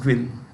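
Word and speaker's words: Nguyễn: Vietnam's leader is Nguyen, Nguyen, Nguyen or Nguyen, pronounced Nguyen. Nguyen, that is Nguyen, Nguyen.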